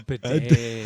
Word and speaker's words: bidet: Oh, a bidet. And it rhymes with AJ.